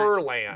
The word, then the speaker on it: Furlan: Furlan. I always Yeah. want to say, I Say say it right. however you want. Furlan. Yep, Furlan.